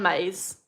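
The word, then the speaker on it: Myss: There's a there's a psychic healer called Caroline Maize. It's spelled M Y SS and she is very famous psychic and she used to be a medical intuitive.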